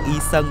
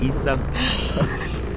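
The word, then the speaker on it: 医生: biết mỗi cái chữ y sân là bác sĩ. Đó. Cái người bác sĩ đang bay á, đọc là y sân.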